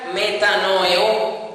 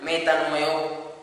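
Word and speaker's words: μετανοέω: Y está la palabra griega metanoeo, con acento en la O final, metanoeo, sin H intercalar ni nada, así pegado, metanoeo.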